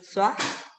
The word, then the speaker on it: soi: Ajá, mais tu te rappelles comment on prononce OI? Ay, no. A ver, déjeme ver cómo se pronunciaba. Por ejemplo, teníamos palabras como esta. Moi. Moi, toi. Entonces. Es soi.